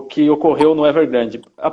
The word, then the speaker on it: Evergrande: Enfim, foi realmente um efeito bastante forte, né, no futebol chinês, o que ocorreu no Evergrande. A pronúncia é Evergrande mesmo, que vocês chamam lá? Evergrande, porque Guangzhou é a cidade, como você viu.